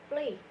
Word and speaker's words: played: Untuk pelafalan id-nya itu dibaca menjadi d, sehingga play ketika ditambahkan id itu menjadi played. Play ketika ditambahkan id, cara pelafalannya menjadi played.